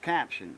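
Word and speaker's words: Capton: It's It's pronounced caption. You know, like a caption, close caption for the hearing impaired.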